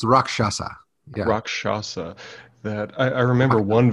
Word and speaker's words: rakshasa: can't ever pronounce it i always called it rakasha and i i'm pretty sure that's way off how did you say the indian weird tiger's name again i think it's rakshasa rakshasa that i remember